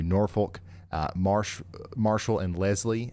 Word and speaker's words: Norfolk: is also for Gatsville, North Folk, I'm sorry, Norfolk, uh Marsh Marshall and Leslie um Baxter, Fulton, Izzard, Pope, Cersi, uh Stone and Van Beern counties.